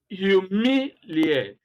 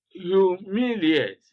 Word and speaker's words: humiliate: The second example, interpolate, interpolate, humiliate, humiliate, congratulate, congratulate, communicate, communicate. Now, you always see stress being placed on the second syllable.